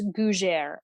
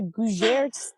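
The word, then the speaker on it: gougères: Okay, I believe it's Gougeres.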